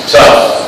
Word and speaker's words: tough: resolu resolution resolution resolution tough like t u f f tough T it's spelled t o u g h but it's pronounced like t u FF t h for of